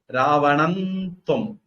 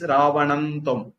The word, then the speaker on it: रावणं त्वं: If you are to pronounce Ravanam, close your lips, then you have to pronounce Tvam. It is difficult. So the smoothest way of pronouncing is Ravanantam. So it glides over the Tvam.